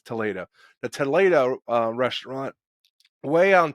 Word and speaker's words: Toledo: It's Toledo.